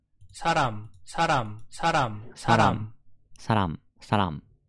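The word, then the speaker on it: 사람: ですね 1 韓国語で人はサランサランと発音します死者の発音を聞いてみるとサロン saran saran saran saran 3 saran saran saran saran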